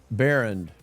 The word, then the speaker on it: Baehrend: Baehrend.